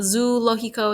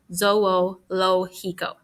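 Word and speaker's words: zoológico: el zoe lojiko and that's got a lot of o's in it and we pronounce each one individually so lo hiko so it's not zoo lokiko it's not zologico zoho lo hiko uh to be afraid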